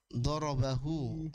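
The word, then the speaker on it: ضَرَبَهُ: Doroba ditambah dengan hu durub. Ya. Jadi, kita membacanya sebagai dorobahu, ya.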